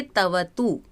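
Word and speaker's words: क्तवतु: देखते हैं तवतु प्रत्यय इसको हम पढ़ेंगे तवतु क नहीं बोला जाता यहां पर उच्चारण नहीं किया जा सकता ये साइलेंट होता है आप जैसे इंग्लिश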